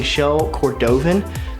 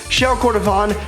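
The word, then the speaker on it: shell cordovan: whole time I think I've been saying show cordovan definitely saying that wrong these show core vibe sound much fancier now shell Kordofan Johnny wallet by bolillo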